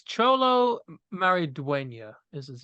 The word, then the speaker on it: Maridueña: it's it's Cholo Maridueña is his name.